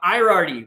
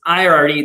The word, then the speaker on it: Ierardi: and then chris irarti which i butchered your name yesterday we joked about it all well backstage and so my apologies it's i already that's an i in the beginning of his name not a lowercase l which sorry he